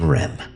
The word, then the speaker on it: REM: most profound artificial intelligences ADM and R M pronounced Adam and REM considering your placement at